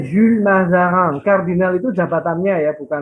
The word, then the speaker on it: Jules Mazarin: Bacanya Jules Mazarin. Kardinal itu jabatannya ya, bukan nama ya. Oh. Jadi yang betul adalah Kardinal Jules Mazarin. Bacanya Jules. Iya. Jules Mazarin.